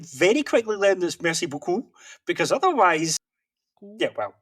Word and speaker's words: beaucoup: That French has two sounds that sound like O. So one is U and one is O. If you say beaucoup, you're not saying thank you a lot.